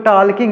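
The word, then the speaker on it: talking: टॉकिंग Dunki D टॉकिंग इसको टॉकिंग नहीं पढ़ेंगे टॉकिंग पढ़ेंगे टॉकिंग यानी जल जो है इसमें साइलेंट है तो पढ़ेंगे टॉकिंग यानी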